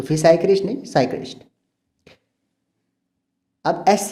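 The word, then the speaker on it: psychiatrist: एक होता है साइकियाट्रिस्ट, ये वर्ड है ना, इसकी ये एक मेडिकल वर्ड है, लेकिन इसकी जो स्पेलिंग है वो पी से स्टार्ट होती है, पर पी साइलेंट होता है, तो फिर साइक्रिस्ट नहीं, साइक्रिस्ट।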